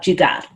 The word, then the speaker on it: jugaad: questions in there but let's just talk about jugaad am i pronouncing it correctly yeah yeah okay so when